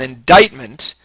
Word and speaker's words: indictment: Federal trials require an indictment remember the C is silent because English is stupid Federal trials require an